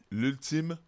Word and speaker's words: L'Ultime: It's l'ultime podcast. L'ultime. So basically, you know, the ultimate podcast, but in French.